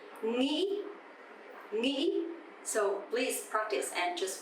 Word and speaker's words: nghĩ: But the northern accent, nghĩ, nghĩ.